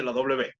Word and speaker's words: law: Okay, A con U o A con W suena completamente como O. No suena la U, ni de la U ni de la W.